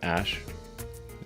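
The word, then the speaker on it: Æ: x um and then the AE is like pronounced Ash um yeah and then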